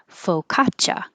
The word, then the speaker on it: focaccia: Focaccia.